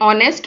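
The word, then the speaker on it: honest: needed आवश्यकता थी एन ऑनेस्ट मैन इसे हम नेस्ट प्रोनाउंस करते ऑनेस्ट प्रोनाउंस करते हैं इसी कारण इससे पहले एन का यूज हुआ है एन ऑनेस्ट मैन एक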